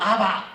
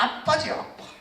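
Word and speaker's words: אבא: 유대인들도 아빠 그러고 아빠인데 요즘은 아바 이래 발음하지만은 원래 이 발음은 턱에 힘이 없고 이빨 다 빠진 사람들이 아바지. 원래는 그 히브리어로 하면 거기에 따깨시가 들어있어요. 아빠라 써놓고는 발음은 아바 이렇게. 본래대로 하면 아빠지 아빠. 우리도 아빠고 그도 아빠고 하나님은 아빠 아버지다.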